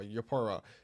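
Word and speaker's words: Eupora: Sorry, not Europa, Yopora, and There's a small, Watal there's a very small CC drop.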